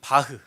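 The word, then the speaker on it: Bach: 사람을 치료하 쓰였죠이 예 더도 여러분이 잘 아는 바흐 바죠 원래 독일 발음으로 예 여러분 바흐 다 누군지 아시죠 예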